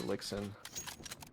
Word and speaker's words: Elixen: I believe his name is pronounced elixen. Elixen elixen like elixir elixen. Okay.